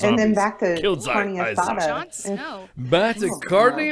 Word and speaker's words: carne asada: my God, he said carne asada. Yeah. And talk about food when you do it. Roll your R's, please.